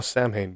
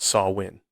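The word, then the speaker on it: Samhain: n version that's so I thought oh Sam Hayne but again I I didn't know any better so doing some research I found out it is pronounced saw win like I said this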